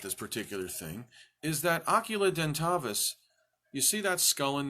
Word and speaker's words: Oculudentavis: And we have called it Oculudentavis. Oculudentavis. The name is complicated. How many syllables is that? Oculudentavis. Only 6 syllables, but it's kind of tough to pronounce.